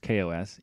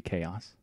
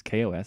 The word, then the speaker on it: KaOS: just want to point out that it is pronounced Kos even though I kind of want it to be chaos that just I don't know seems fun but it is Kos so Kos had a complete redesign of the